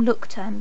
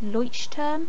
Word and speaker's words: Leuchtturm: did have one um i call them look term but i think they're supposed to be pronounced leuchtturm or something 1917 notebooks left i